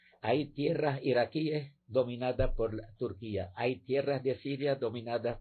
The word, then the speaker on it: Turquía: etcétera es el de Turquía que por cierto no sé por qué quien pronunciar como lo pronuncian á turquilla es Turquía Pero bueno Sí sí